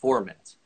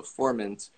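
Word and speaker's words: Furmint: is uh it looks like ferments but actually pronounced formant so formant as a pronunciation so i just want to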